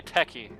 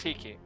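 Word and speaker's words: Techies: I historically have been usually calling this guy Techie, but apparently it's pronounced Tiki.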